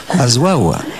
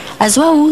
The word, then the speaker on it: Azwaw: veut dire danse, mais je vais vous laisser prononcer, parce que c'est le W de la fin qui m'ennuie un peu. Azouaou. Azouaou, on dit.